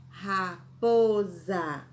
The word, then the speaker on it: raposa: raposa borra desculpem já quando nós falamos a última sílaba nós pensamos que a escrita com z mas é escrito com a letra s raposa a terceira palavra do